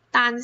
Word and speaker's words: 担: 好，这个多音字呢，它有两个读音，一个是单，担心的担，担心，当当，担当，还有负担。